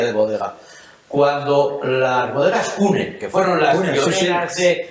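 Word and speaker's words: CVNE: Cuando las bodegas Cune, que fueron las pioneras de... Que era V, pero no saben pronunciarlo.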